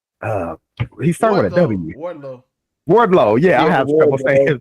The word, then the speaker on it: Wardlow: in that wardrobe I think I said his name wrong uh Wardlow yeah his name but like like he can't